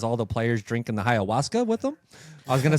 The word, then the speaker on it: ayahuasca: they drink their Ayahuasca you're not saying it right say it Waltz Ayahuasca that's how you get to say that one wasn't very good